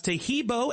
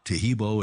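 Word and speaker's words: Taheebo: Oh, that's Tahibo, and then continue with the word tea, and then the word club.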